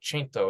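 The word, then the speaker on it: cento: liked the fact that chaino is how you say 100 so if you want to say 100% you say chaino per chaino which literally means 100 per 100 um and you're like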